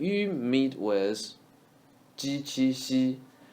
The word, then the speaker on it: 细: 细心 xi. We say she with flat tongue.